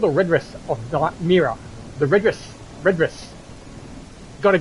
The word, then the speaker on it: Mira: the redress of dark mirror the redress redress got to get that pronounced right the red dress of my mirror I keep saying Myra but it's nearer the redness of mirror just been released today